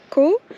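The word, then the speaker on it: Coo: On va visiter le lac de Caux. Je sais pas si ça se dit comme ça, mais ça s'écrit C-O-O.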